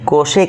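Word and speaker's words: cosec: সি ও এসই সি কোসেক উচ্চারণ করব।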